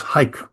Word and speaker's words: haiku: people English speakers ears, you think what they're saying is hike. Mhm. So one syllable because they they don't the the the oo part of it is just often not pronounced, you know.